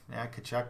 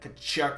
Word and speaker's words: Tkachuk: It's got that silent letter, just kind of fancy like that, but it's got that Tkachuk.